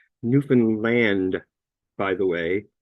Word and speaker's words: Newfoundland: Right now, where I come from, which is Newfoundland, it's pronounced Newfanland, by the way, not Newfoundland.